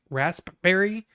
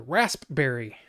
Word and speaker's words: raspberry: I wish I could you like to pronounce the p and rasp raspberry that's kind of hard to raspberry raspberry uh I read that